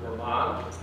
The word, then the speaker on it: Vermont: We prefer to pronounce it Vermont.